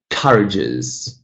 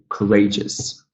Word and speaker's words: courageous: Here, we're not saying courageous, we say courageous, courageous. Yes, so ray is the stressed syllable here.